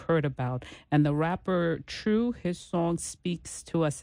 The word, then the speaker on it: 2Ru3: the number three and it's pronounced true like t r u e okay okay that's different